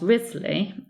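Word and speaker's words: Wriothesley: morning but chronicler and wins the Herald Charles Risley and we pronounce it as Risley or Rhys lead not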